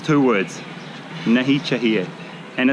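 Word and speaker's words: नहीं चाहिए: say this in Hindi it's it's two words nahi chahiye and it's pronounced like this na e cha ta na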